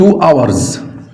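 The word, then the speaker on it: hours: ت ايوه ت ايوه ت اورز الاتش سايلنت لا تنطق ت اورز يعني ساعتين 3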